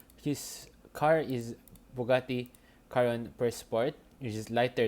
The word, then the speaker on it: Chiron: car which was a Bugatti Chiron or Bugatti Chiron if pronounced correctly is which is a